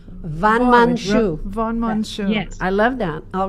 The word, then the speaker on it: van Monsjou: And my surname is Van Monsjou. In English, Van Monsjou. Van Monsjou. Van Monsjou.